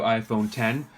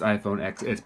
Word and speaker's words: iPhone X: hands on the new iPhone 10 it's not pronounced iphone XS pronounced iPhone 10 and so we're unboxing